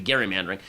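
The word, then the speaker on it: gerrymandering: happened it is called Jerry manering after Massachusetts governor Elbridge Gary is actually pronounced Gary it should be Gary mandering who signed a bill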